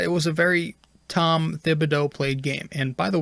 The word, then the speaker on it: Thibodeau: say his full name it's th you pronounce thibodeau but when you say tips it's just the t that you pronounce i think omni i